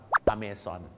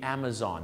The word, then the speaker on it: Amazon: ครับ ต่อ ไป ครับ amon บ้าน เรา ออก เสียง Amazon ออก ไป เลย เหมือน Amazing ใช่ มั้ย ฮะ แต่ สำเนียง ฝรั่ง The Amazon นั่น เอง ครับ หรือ ฝรั่ง คน ออก เสียง The Amazon The Amazon River หรือ The Amazon River The Amazon Amazon ไม่ ใช่ amon ครับ The Amazon แม่